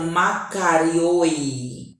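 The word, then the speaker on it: μακάριοι: É um adjetivo plural grego, que é pronunciado makarioi, que significa felizes.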